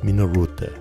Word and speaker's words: Minolta: The pronunciation in Japanese is Minoruta, an abbreviation for Machinery and Instruments Optical by Teschema.